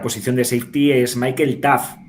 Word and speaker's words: Taaffe: de safety, es Michael Taaffe. Por muchas letras que veáis, es tan fácil de pronunciar como T-A-F, Taaffe.